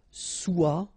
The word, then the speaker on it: soit: Okay, then of course être and avoir, so être will become soit, remember final S is not pronounced, soit, then soyons, soyez, all